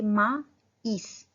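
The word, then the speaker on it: maïs: एक को हम प्रोनाउंस करेंगे मा ईस, ए का भी साउंड प्रोनाउंस करेंगे और आई का भी अलग अलग, उस पे एम्फेसिस करेंगे। माइस, माइस मीन्स कॉर्न।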